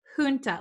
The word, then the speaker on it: junta: word so the j the j written here does not sound like an english j it sounds like an h so in america we would say junta junta so that's how